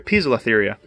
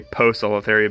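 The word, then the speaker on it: Poecilotheria: Not Poselatheria, but Pisela. I'm sorry, Piselatheria. There we go. Anytime I hear something pronounced a certain way, I try to keep pronouncing it correctly. A lot of people say Poselatheria because of their nickname Pokies, but they are actually Piselatherias. That's how that is pronounced.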